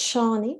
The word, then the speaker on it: Shanie: to give you my email address so that's shawnee and you spell it s-h-a-n-i-e at grow potential g-r-o without the